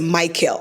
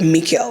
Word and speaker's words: Mikel: thing goes with Mikel somebody might call it Michael instead of Mikel like I feel like